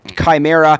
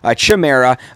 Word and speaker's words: chimera: going to be hitting a chimera Chimaira depending on how you pronounce it so here we go